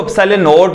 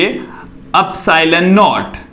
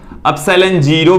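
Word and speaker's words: ε₀: ये जो एप्सिलॉन नॉट है वो क्या होता है? देखिए, इसका जो उच्चारण है वो देख लीजिए क्या है। इसे हम बोलेंगे एप्सिलॉन नॉट, एप्सिलॉन नॉट, एप्सिलॉन 0 भी बोल देते हैं।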